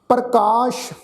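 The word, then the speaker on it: ਪ੍ਰਕਾਸ਼: प्रकाश पप्पे के पैर में तुसीं देखो अद्धा रारा कक्के नूं कन्ना सस्सा। सत्संगत इसका अर्थ बनेगा अपने आप तो प्रकाशमान होना। प्रकाश ससे पैर बिंदी लगा के पाठ उच्चारण करांगे।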